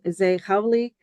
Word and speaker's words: Zeï Khauli: always I love it thank you so much z howy uh you inspiration um oh you pronounced my my last name amazing thank you